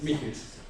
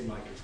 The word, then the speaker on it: Michels: No, pronounced I like it really. It's Michels. Boring, yeah. Michels. You can say Michels.